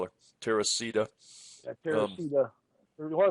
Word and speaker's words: Teresa: It's about Teresa, whatever you want to call her, Teresita. Yeah, Teresita. Well, it's actually pronounced Teresa. Yeah, well, they might pronounce different, but spelled Teresa.